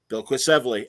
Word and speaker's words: Bilquis Evely: Bilquis Evely and Matthias Lopez again, because Raphael's speechless with every issue of Supergirl, Woman of Tomorrow.